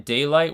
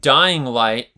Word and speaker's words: Dying Light: Oh shoot, Dying Light. Am I saying it wrong? It's Dying Light? Is that the game? Yeah, Dying Light. I was saying Daylight, huh?